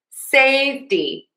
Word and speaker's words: safety: I'm saying a flap T here, but you can also say a T. Safety. Safety. Safety. Safety. Safety. Either is fine. Bigger picture here is syllable number one needs to be stressed. That is the most important thing.